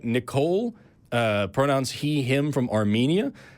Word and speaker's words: Nikol: Hi, yes, my name is Nikol, yeah.